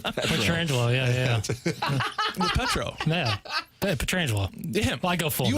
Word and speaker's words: Petrangelo: know what's amazing is you actually say his name right most people who are in the business say his name wrong was a thing when he first was drafted for the first number of years the Petra Angelo thing or Peter Angelo oh I haven't heard